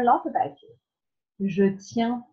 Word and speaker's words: tiens: A bit tricky to pronounce, but if you know how to say the word dog, chien, you'll have seen that I-E-N, E-E-N together, and you always pronounce it I-E-N. So, je tiens à toi.